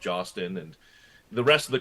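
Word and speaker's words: Hostin: with Whoopi Goldberg, Sonny, I believe it's pronounced Jostin, and the rest of the crew on The View.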